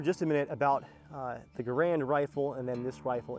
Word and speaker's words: Garand: catch myself here because the french-canadian designer garand didn't really mind that people mispronounce his name but now that I've